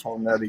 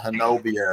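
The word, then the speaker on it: Honobia: They do not pronounce Honubby correctly. If they're from out of state and move there, they call it Hanobia or something like that. Honubby. It's one of those words that's pronounced nothing like how it's spelled.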